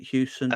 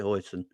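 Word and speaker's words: Huijsen: say this ge's surname is it Houston um Donnie Donnie Donnie Hoon Hoon that's it Hoon like the sauce um yeah the crispy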